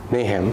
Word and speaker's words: Nahum: Pastor told me how to pronounce this, but I forgot how to say it. There's a book of prophecy. Nahum.